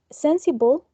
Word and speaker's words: sensible: second one this one then sensible it has three syllables and the most prominent syllable is the first one sensible then we have sensitive